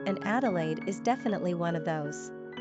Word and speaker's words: Adelaide: Quick facts on Adelaide: gender, girl origin, English number of syllables, 3 ranking popularity, 321 pronunciation, Adelaide simple meaning, noble 1 characteristics of Adelaide: intellectual, sensual, freedom-loving, adventurous, adaptable, progressive, easygoing.